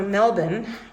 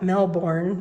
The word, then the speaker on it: Melbourne: photo I took in U melbour which is spelled Melbourne but if you say that then you'll get chased out of town so when you're in